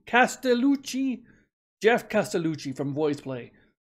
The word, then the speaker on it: Castellucci: voice plays Jeff cast I can never say his name right Casta lulucci Castellucci Jeff Castellucci from boys